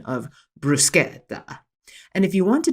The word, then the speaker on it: bruschetta: What I now have come to know is properly pronounced as bruschetta.